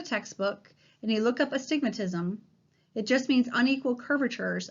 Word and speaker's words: astigmatism: incorrectly a lot and the word starts with an a so it's us the word itself is astigmatism okay it's not a space stigmatism the whole word is astigmatism and this occurs because